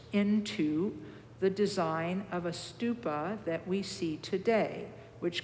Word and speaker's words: stupa: Tom u p is in Paul a St stupa literally means Mound and it has to do